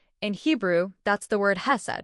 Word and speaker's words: hesed: That phrase steadfast love in Hebrew that's the word has right exactly pronounced kissed and Stephanie you can't just translate this with